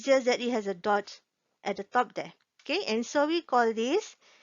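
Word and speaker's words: ضاد: And the way to pronounce the letter dot is the side of your tongue, the left side, should be touching the left side of the teeth or the gums.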